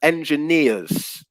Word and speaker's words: engineers: and also pronunciation um the word engineers is the pronunciation so we stress yeah we stress the final syllable for that one yeah engineers engineers not